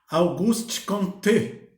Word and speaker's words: Auguste Comte: atenção sobre augusto comte ele era um francês então tem a pronúncia processada de seu nome auguste comte auguste comte é mas não importa a